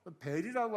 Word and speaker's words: 벨: 여기서 벨이라고 하는 것은 아람식 발음인데 벨은 바벨론에 있는 여러 신 가운데 우두머리 신이에요.이 아람어를 히브리어로 옮겨 가면 뭐가 되냐면 바알이 되는 거. 바알.